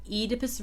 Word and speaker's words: Oedipus: Oedipus Rex seems to be the UK. I'm from Ireland, so we'd go by the UK pronunciation, and then Oedipus Rex seems to be the American pronunciation.